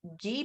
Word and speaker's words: ghee: 100 it's 66 and then you can use ghee butter which is spelled g-h-e-e butter it's butter it's just been